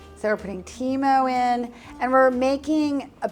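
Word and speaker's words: timo: Thyme how do you say thyme in Italian chemo so we're putting Teemo in and we're making a paste essentially to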